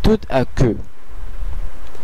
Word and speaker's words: tout à coup: সাধারণত এই তেটা সাইলেন্ট থাকতো, কিন্তু যেহেতু এর পরে একটি ভাওয়েল আছে সেই কারণে তুত আকু হয়ে যাচ্ছে।